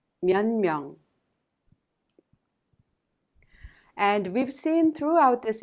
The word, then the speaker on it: 몇 명: Therefore it affects the previous sound the in is affected by the nature sound and it becomes neon and is pronounced 면명 면명.